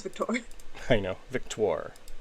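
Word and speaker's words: Victoire: Victor. It's a weird one. It's like Victor, but with an OIR on the end. Well, they're French.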